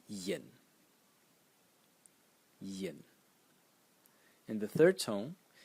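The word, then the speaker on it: 银: And the last character is pronounced yin yin in the second tone and it means silver.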